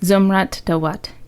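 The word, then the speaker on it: Zumrat Dawut: Here's some more pronunciation. Is it Zumrat Duat? Yes, Zumrat Duat.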